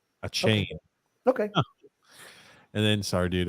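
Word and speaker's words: Achane: his system just interesting it's pronounced a chain a great shift running back out of A&M a chain okay and then sorry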